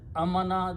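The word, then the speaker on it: آمَنَ: Two alifs are written by one hamza and alif and pronounced as a. This is amana, this is amana.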